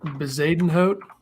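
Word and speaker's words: Bezuidenhout: Bezadenhout.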